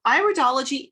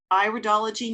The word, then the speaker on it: iridology: this it is pronounced iridology not iridology it's got a long eye for the first sound constitutional iridology recognizes that